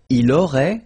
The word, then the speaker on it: aurait: Il aurait, same thing here, final T is not pronounced, elle aurait, okay?